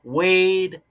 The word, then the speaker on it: Wade: Randall Wade Cunningham Sr., former NFL quarterback. Cunningham, like Cade Cunningham. Middle name is Wade, rhymes with Cade.